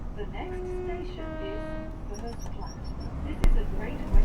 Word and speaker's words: Furze Platt: The next station is Furze Platt. This is a great way to Ah. Right. So, it is Furze Platt. I am right. That's like one of the only times I've been right on pronunciations.